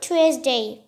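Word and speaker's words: Tuesday: তাহলে উচ্চারণ কি করতে হবে? টুয়েসডে।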